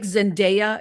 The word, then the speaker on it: Zendaya: I thought this young man, it's like Zendaya.